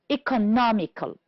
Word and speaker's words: economical: The first one, first syllable, practical, honest, and product. On the second syllable, we have the word conclusion, direct, unethical, produce. The words that are stressed on the third syllable are imitation, economical. And the word, we have only one, which is stressed on the fourth syllable, is responsibility. Good.